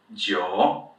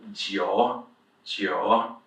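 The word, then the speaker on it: 九: is easy bā jiǔ This "j" sound, you kind of just need to learn it. It doesn't really exist in the English language. It's kind of this "ji" "ji" "ji" sound. So, jiǔ. And the last one, second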